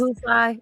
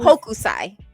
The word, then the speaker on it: Hokusai: I mean, yes, Master perhaps Kohusai. Wait, what's his name? Kohus? Hokusai.